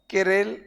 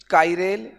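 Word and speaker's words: chiral: एक वर्ड आता है केरेल कायरेल चिरेल अलग-अलग नाम है कोई इसे केरेल बोलता है कोई इसे कायरेल बोलता है स्पेलिंग यह है।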